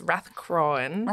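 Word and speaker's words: Rathcroghan: Another famous site is Rathcroan, which is further to the west from Clacton. Mm-hmm. And Rathcroan, it's spelt Rathcrogan, so I keep reading that. It's Rathcroan.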